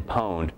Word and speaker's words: pwned: Pwn is sort of hacker speak for owned, as in like, oh, I just own this site. And you can't just spell something the way it's spelled, so P-W-N-E-D, pwned.